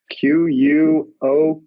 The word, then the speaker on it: Quokka: It is, I believe, pronounced Quokka. It is Quokka.